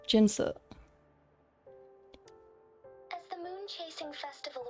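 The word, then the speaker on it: Jinhsi: the magistrate of Jingo I think think they that was not the correct pronunciation and also um in Chinese you would never have in and then H unless it was like Jin if they're pronouncing it ginshi then it should have been Shi but I don't know in this case it should be jinsa as the moon chasing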